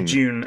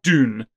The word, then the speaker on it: Dune: it do you know I say tune I say June Americans say Dune Doom what I say